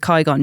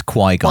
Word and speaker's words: Qui-Gon: I'm with Qui-Gon Dave. All these years later, I'm still ridiculously excited for new Star Wars games. Yeah, come on. It's just the... Did I say his name right, Qui-Gon?